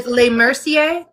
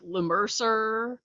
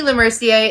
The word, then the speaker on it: LeMercier: LeMercier? LeMercier. LeMercier. My husband's French, so I was like I was hoping I wasn't totally butchering it. So No, you're good. I've gotten like LeMercer, Matt Mercer, all sorts of things.